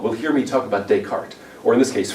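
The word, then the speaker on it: Descartes: I had students who say well you know desaris um that that makes you sound stupid and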